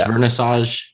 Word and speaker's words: Wernissage: exactly i love ludwig ludwig and then it's vernassage with yes exactly got you okay nice you're actually like really good at pronouncing my names like both of my names